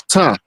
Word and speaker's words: Ptah: Now, who in the hell is Ptah? The P is silent, by the way. Say it again. I said, who in the hell is Ptah?